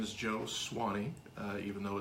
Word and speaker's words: Soane: My name is Joe Swanee, even though it's spelled S-O-A-N-E.